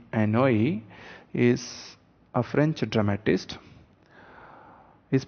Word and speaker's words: Anouilh: Now, Jean Anouilh is pronounced as Jean Anouilh, is a French dramatist.